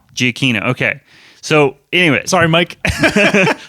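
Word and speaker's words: Giacchino: giaccino's score over the wait it's not pronounced yetino yeah we were wrong uh um Jonathan Polly he corrected us yeah what did how is it pronounced Michael GI Aquino giacino okay so anyway sorry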